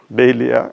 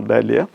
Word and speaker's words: dahlia: DAHLIA, which you usually call DAHLIA. Everybody is familiar with that word which we usually call DAHLIA. Probably the dictionary pronunciation will be DAHLIA.